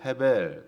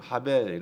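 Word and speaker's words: הבל: 이름은 아벨 라고 지었습니다 히브리어 에서는 해 벨 또는 합의 라고 발음 하긴 하는데요 이해 베른 확대 다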